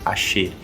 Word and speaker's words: ayer: diferença de pronúncia tá então a d l e a y por exemplo elas vão ser pronunciadas com um som um pouco mais chiado palavras como ayer eu vou dizer por exemplo acher Então são coisinhas que